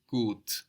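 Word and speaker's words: gut: my neighbors are good the word for good is good g u t and that U gives us a long o sound like in food good good my neighbors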